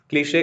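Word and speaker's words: cliché: इसकी pronunciation क्लीशे होती है, क्लीशे। ठीक है, श रहता है लास्ट में। कुछ बच्चे इसको क्लिच क्लिच बोलते रहते हैं, लेकिन इसकी सही प्रोनाउंसिएशन क्या होगी?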